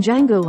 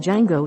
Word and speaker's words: Django: the man who played Django in the 1966 western of the same name. The two characters discussed how the D in Fox's character's name is silent.